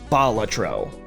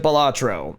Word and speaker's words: Balatro: Latin for jester, and the emphasis is, it's on the first syllable, a la Balatro. I know everyone in the gaming community colloquially calls it Balatro, and to that I say, well, good for you, you're wrong.